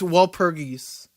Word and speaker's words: Walpurgis: Hey, It's a dumb German name that it's Walpurgis.